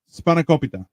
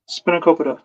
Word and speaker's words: spanakopita: dish W but I love how do we pronounce it again spanakopita spanakopita Spano spop span spank that's oh yeah if